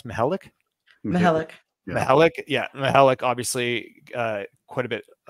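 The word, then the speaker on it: Mihelich: And then with, how do you pronounce Mihalik? Mihalik.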